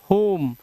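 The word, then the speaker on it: whom: जैसे डब्ल्यू एच ओ, इसको पढ़ते हैं हु, और डब्ल्यू एच ओ एम, ओ आया, डब्ल्यू साइलेंट, होम।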